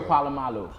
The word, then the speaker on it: Polamalu: Troy Polamalu.